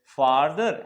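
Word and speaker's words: further: थोड़ा सा डिफरेंस है, इसको फार्दर और इसको फर्दर पढ़ते हैं, थोड़ा प्रोनाउंसिएशन है लेकिन दिखता एक जैसा ही है। यहाँ ए और यहाँ यू, तो ये आ और ये अ, तो फार्दर फर्दर, ठीक है।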